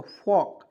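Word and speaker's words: folk: तो एफ से होता है फ, और ओ है तो उसको उच्चारण इस तरह से करेंगे, और के से होता है क, तो फॉक फॉक, FOL के फॉक, फॉल्क नहीं पढ़ेंगे, फॉक फॉक फॉक फॉक, इस तरह समझ रहे बातों को।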